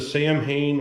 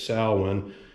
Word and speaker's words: Samhain: So the Samhain, or if you want to pronounce it the right way, it's Samhain, as well as the Danzig patch.